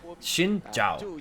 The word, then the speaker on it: Xin Zhao: around to it, but technically the pronunciation of Xin Zhao is Xinjiao. Xinjiao. So if you remember, so you know Zhuo, the support. So basically ZH is more of like a in the same way that you know like Genie. Yeah. It's kind of like the DJ kind of syllable. It's kind of like that, the ZA, so it's more like Xinjiao.